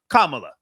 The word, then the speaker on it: Kamala: Kamala, sir, the correct pronunciation, Kamala.